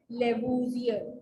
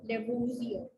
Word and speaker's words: Lavoisier: How do we pronounce it? Lavoisier. Lavoisier. Okay. Lavoisier discovered that oxygen is 1/5 of air.